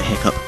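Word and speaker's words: hiccough: that that was a little bit of a hiccup or hiof if you want to pronounce it how it's spelled I don't know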